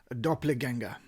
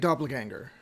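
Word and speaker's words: Doppelgänger: a genic twin or if you prefer the German word which has come into the English language dopplena. So it's a genic doppelganger to pronounce it more American fashion and so there is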